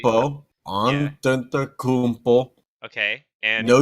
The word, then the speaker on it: Antetokounmpo: So we're starting with MVP, and our wheel decided to nominate James Harden, Giannis Adetokounmpo, if I can pronounce that correctly. Antetokounmpo, Yeah.